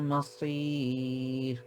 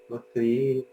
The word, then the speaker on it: مصير: সো মাসির মাসির أسير back of the tongue উঠে নাই, ব্যাক অফ দ্য টাং উঠাইতে হবে।